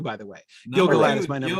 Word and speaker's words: Gil-galad: It's Gil-galad who he changes his mind about, which I'm also very interested to see. He's my number 2, by the way. Gil-galad is my number 2.